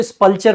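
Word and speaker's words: sepulchre: तो स्पल्चर पढ़ लो, थोड़ा सा आसान हो जाएगा। तो मैं कह रहा था ना प्रोनाउंसिएशन कभी कभी चेंज करना, सो सेपल्चर इसको पढ़ो, क्या पढ़ो, सेपल्चर।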